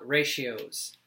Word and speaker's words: ratio: we're discussing something called ratios go ahead and practice saying that word a few times it looks kind of like radio but you pronounce it ratio the ratio of something